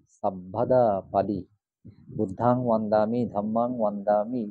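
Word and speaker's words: সব্বদা: মনে রাখবেন, যুক্ত বর্ণ সংযুক্ত বর্ণ বয়ে ব, বয়ে ব। যেমন আমরা বলছি সাব্বে সত্তা, বয়ে ব, এটা উচ্চারণ অবিকল থেকে যাবে। এটা এখানে ব আছে বলে এটা ওয়া হবে না।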